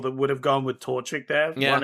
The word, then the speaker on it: Torchic: I'm gonna go Torchic. Is that the name? Oh, okay. Yeah. Yeah. That's it. That's how you pronounce it.